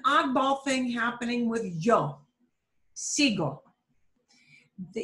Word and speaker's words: sigo: For the yo form, the U will not even appear because G-O already makes it a hard G sound. So there's no reason for that U to step in and give the G the g, g sound. So it's sigo, sigo, sigo.